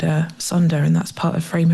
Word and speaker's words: sonder: And there's a lovely word that I came across, and I might pronounce it wrong, SONDER, which I'll pronounce as Sonder, and it's It's a